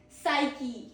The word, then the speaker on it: psyche: P is silent. Psyche. Meaning is the human mind or its soul. The human mind or its soul. Pro tip is PS sounds just like S.